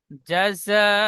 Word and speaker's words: جزاء: যা جزاء জন ওই, যা, যা যাবার যা হয়, জাযা। جزاء من ربك عطاء حسابا। আবার পড়েন। جزاء من ربك عطاء حسابا। বানান করেন।